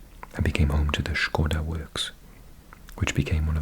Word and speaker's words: Škoda: I'm overpronouncing Škoda. I think everyone in the UK would call it a Skoda. But yeah, in Czech it's Škoda.